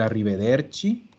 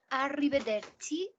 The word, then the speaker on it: arrivederci: pronunció arrivederci no arrivederci la doble r wl la doble erre se comporta igual que en español ya que esto es ar con la r dura arrivederci y si tengo una